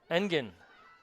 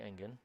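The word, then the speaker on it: Engen: western flash named whitney engine spell a little differently but pronounced exactly the same oh this is done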